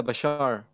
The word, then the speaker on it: Bashar: Speaking of which, and, like, how do you pronounce it? Is it like, Bashar or B4Shar? Yeah, Bashar.